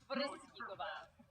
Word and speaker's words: Brzyskova: You pronounce all the consonants. What? All the consonants. Brzyskova.